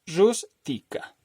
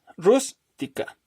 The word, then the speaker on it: rústica: Rústica, palabra trisílaba. Entonces, la sílaba tónica es la primera. Rústica. Como es esdrújula, se tiene que tildar.